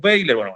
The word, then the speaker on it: Weyler: bailer o weiler vamos a decirle weiler no vamos a entrar en el detalle yo lo siento por nuestros amigos españoles que seguramente no Nosotros le decimos veiler en fin peritas y